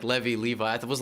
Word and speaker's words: Levy: had to deal with levi's yeah and i also had to deal with in in english leavey is a last name so my name is a last name and it's pronounced levi i don't know why